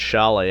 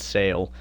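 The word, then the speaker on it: Šalé: Shane Wright up to an 87 now, and Edward Chalet, I finally figured out how to say his name. It's Edward Chalet, not Sale.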